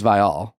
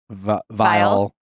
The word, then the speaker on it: Viall: question how is it it's vial people say vile Veil girl that's because you